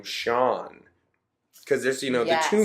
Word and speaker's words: Sean: That's Scion. Yeah, exactly. No, it's Sean. Sean. I've always named myself Sean. I've been called Sean forever, and I'd appreciate it if you kept calling me Sean.